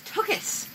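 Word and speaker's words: tuchis: You pronounced it wrong. It's tukis. Tukis. Tukis. Well, there's no O in it, and it's a C-H.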